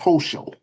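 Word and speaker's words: Hochul: I think it I think it's pronounced Hoso.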